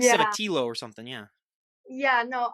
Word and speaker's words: Cevetillo: And my last name is pronounced Cevetillo. It's very Italian, but you don't have to butcher it. So the I kind of sounds like an E then, basically, because when